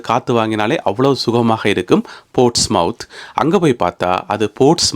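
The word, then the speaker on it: Portsmouth: முத் என்று வாய்க்குள்ள ஒரு மாதிரி வாசிக்கணும் எனவே போட்ஸ்முத் போர்ட்ஸ் முத் அப்படி என்று வாசிக்கணுமாம் இந்த உச்சரிப்பு எல்லாம் சரியான உச்சரிப்பு என்று நான் சொல்ல வரையில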